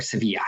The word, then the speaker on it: Sevilla: double overnight in in seville or sevilla as the spanish pronounce it so you have three